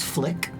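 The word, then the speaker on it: Flyck: Their pronouns name is Flick spelled F L Y C K.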